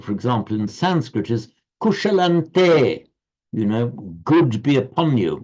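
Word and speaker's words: कुशलं ते: So written with the anuswaras, the subdotted m, but pronounced as a n because of the following te. So you write kushalam anuswara te, but you pronounce kushalante because the following te.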